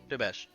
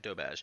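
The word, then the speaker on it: doberge: It's going to be an incredible, dobage. It's spelled like this. Spelled like that. But it's called, dobage.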